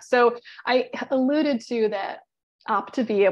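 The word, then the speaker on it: Optavia: I alluded to that optivia which I was always pronouncing it wrong I was saying Octavia back in the day but I actually had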